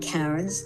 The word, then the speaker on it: Karins: You can find Karen's, that's spelled Karins.